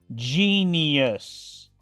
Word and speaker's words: genius: pronuncia como una I genius genio sodium en este caso la i se pronuncia como una doble I y la u si se pronuncia genius sodium sigamos ahora